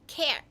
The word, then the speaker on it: Claire: Because they can't pronounce, Japanese people, native Japanese, cannot pronounce the L. And this is how they pronounce it. Claire. But because I also knew English, American English, I omitted the L. And I just pronounced my name how? What is Claire without the L? Care. Right. It was like an Americanized version of this. Claire. I just said Care. My name is Care.